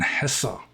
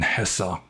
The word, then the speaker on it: Hesse: phase of liking Herman Hesse. And I'm probably pronouncing his second name more correctly than his first name. I don't know the German pronunciation. I do know that E at the end is pronounced.